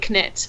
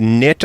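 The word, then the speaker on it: Knytt: um so yeah but it's kind of like potato potato knit knit so yeah I kind of think like everyone pronounces it differently because no one really knows how to say it but I always say knit on ground I I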